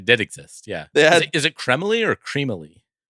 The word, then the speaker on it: Cremily: So, I have to imagine that it's they're going for a little bit of like a French pronunciation. Kremily.